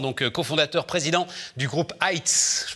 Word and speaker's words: Heights: Emmanuel Vincent, donc cofondateur, président du groupe Heights. Je prononce bien Heights.